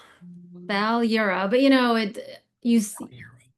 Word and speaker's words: Balyura: You have to like roll the R like Daria Balura.